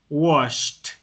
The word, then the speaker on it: washed: washed. Quiere decir que después del sh viene un t. Washed.